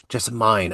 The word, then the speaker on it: Jessamine: It's you're very close. Jessamine. Jessamine. Okay. Yeah. All right. The internet foiled me again. It's okay. That's a very, very common mistake.